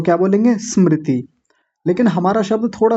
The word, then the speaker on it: स्मृति: बड़ों का थोड़ा कठिन होता है क्योंकि बड़े लोगों का उच्चारण पहले से गलत है। पहले से अभ्यास गलत है उनका। तो क्या बोलेंगे? स्मृति।